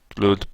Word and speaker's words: GLUT: Glut pronounces like the gluttery is the OpenGL utility toolkit independent.